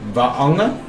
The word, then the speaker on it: Vaonga: You need to pronounce the two vowels separately. Vaonga. And the G is pronounced as a Samoa.